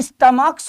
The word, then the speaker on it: stomachs: और स्टमक चूंकि यहां पर CH का प्रोनाउंसिएशन का है, इसलिए इसका प्लूरल ये स्टमक्स होगा, STOMACHS।